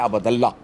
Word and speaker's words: अब्दुल्ला: अच्छा, कमाल देखो जी, अब्दुल्ला को कोई बंदा, हालांकि लफ्ज़ इसका सही प्रोनाउंसिएशन है अब्दुल्ला, अल्लाह का बंदा।